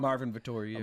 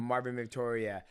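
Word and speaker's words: Marvin Vettori: Marvin Victoria. Marvin Victoria.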